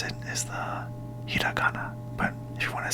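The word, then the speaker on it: ひらがな: to pronounce it so the correct way to pronounce it is the hiana but if you want to say it like the Western way hirana so today I'm going to teach you the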